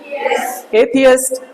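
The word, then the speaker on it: atheist: थियस्ट बोलो, थियस्ट, एथियस्ट, एथियस्ट, अतीस्ट नहीं बोलना, पहले बोलो थियस्ट, एथियस्ट, एथियस्ट, एथियस्ट, थियस्ट।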